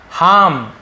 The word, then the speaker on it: harm: कर देना ठीक है हाम यह भी हाम ठीक है हार्म ऐसे हाम नुकसान पहुंचाना ठीक है हार्मफुल नुकसानदायक तो वही है आर थोड़ा सा साइलेंट होता है चीट चीट यानी किसी